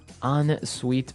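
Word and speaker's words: en-suite: Ensuite bathroom, Sorry, another note on the spelling here. It's E-N right? hyphen S-U-I-T-E. So even though it's E-N, we pronounce it like an O-N.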